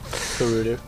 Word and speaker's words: Gerudo: Gerudo.